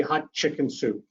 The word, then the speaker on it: Hatshepsut: And he said, for Queen Hatshepsut, just say hot chicken soup.